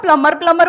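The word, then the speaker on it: plumber: सर उसको खुद ही नहीं पता कि बी साइलेंट है। आप हाँ। उसको प्लम्बर बोलोगे, शायद उसको अजीब लगे, मैडम फालतू क्या एक्सेंट मारी।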